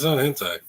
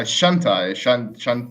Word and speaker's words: Shantae: No, it's not hentai. No, Shantae.